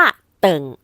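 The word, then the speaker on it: 等: จะ ไป หา คุณ คำ ว่า เติ่ง ใน ประโยค นี้ ออก เสียง ว่า เติง นะ คะ แปล ว่า รอ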